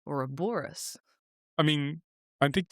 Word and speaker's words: Ouroboros: It's Ouroboros. I mean, I think stress on it's a the Greek third word.